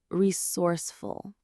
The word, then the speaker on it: resourceful: The word is resourceful. Let's break down the pronunciation. It has three syllables. Re source. full. Again, re source full. The stress is right in the middle on that source part.